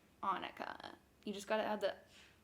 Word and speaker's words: Annika: name which is okay it's Annika it's like Monica without the M but with a proper